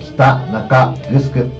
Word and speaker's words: 北中城: かった、漢字で北中グスク、グスクはお城の城と書いてグスクと読みます。